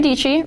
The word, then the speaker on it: Dietschy: My name is Sara Dietschy, rhymes with peachy.